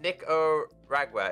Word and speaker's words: Nicaragua: enough for armor and some some stuff it's pronounced nico ragwer is it okay thank you i'm terrible i